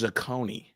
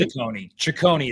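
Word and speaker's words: Cecconi: It's Zacconi, right? Ciccone is how you pronounce it. So we're both wrong.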